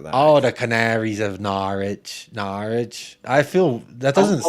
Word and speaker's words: Norwich: what his vote is the W in Norwich is silent Jacob I feel like